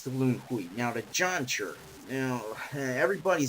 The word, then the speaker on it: Zhan: Zhan. Now, it's pronounced Zhan, as far as I understand.